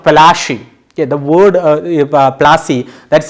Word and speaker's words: Plassey: Okay, Plassey is an anglicized pronunciation of Palashi.